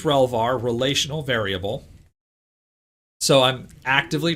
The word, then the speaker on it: relvar: has a login yeah the term relvar is fun um i am probably going to accidentally say revlar several times as well it is relvar relational variable so i'm